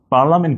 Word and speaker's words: পার্লামেন্ট: পার্লামেন্ট কিন্তু পার্লিয়ামেন্ট, এখানে কিন্তু একটা আই আছে।